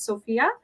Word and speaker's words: SFIA: kipps there is a sophia skills assessment testing um it is written as sfia but pronounced as sophia so that kind of